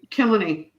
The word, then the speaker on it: Kilkenny: Kilkenny is how you say it.